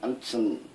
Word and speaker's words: 안춘: 실제 이름이 안춘입니다.